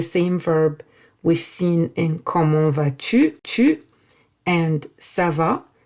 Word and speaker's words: comment: You can also ask how are you differently by saying comment vas-tu?